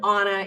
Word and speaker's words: Anna: Now, Onna Macfarlane, and it's Onna, not Anna, Onna like O-N, but it's spelled Anna.